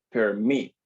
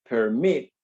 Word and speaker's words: permit: En el caso de permit, si escucha con atención, tiene dos sílabas. Permit. La sílaba que suena con mayor fuerza es la última. Mit. Permit.